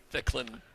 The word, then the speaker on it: Ficklin: It's Ficklin. Yeah, you're very fickle on how to pronounce it.